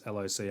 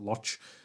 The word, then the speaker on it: Locke: hope i'm pronouncing that it's loch it's hopefully it's not lodge which i doubt it